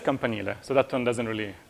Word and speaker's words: campanile: It's maybe one way to really mispronounce it, you could say campanile or whatever, or like camp on the Nile or whatever. I don't know. It's just campanile, so that one doesn't